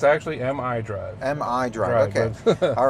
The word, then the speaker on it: MI Drive: We have, now I feel like I'm going to mispronounce this. So this is the My Drive? It's actually MI Drive.